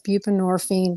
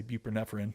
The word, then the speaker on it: buprenorphine: it's all the same buprenorphine I think is how you say it I always kind of say it wrong I always say buprenorphine but it's buprenorphine oh I've heard so